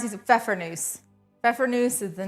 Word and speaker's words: Pfeffernüsse: How do you pronounce these? Pfeffernusse.